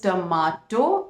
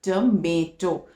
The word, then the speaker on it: tomato: So in British it is tomato and in American it is tomato.